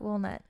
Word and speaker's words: walnut: what do I say no you say walnut walnut like you're saying wool like from a sheep yeah yeah that's how